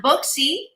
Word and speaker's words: Buxy: You pronounced it beautifully. Buxy. You said Buxy, right? Was it? Buxy.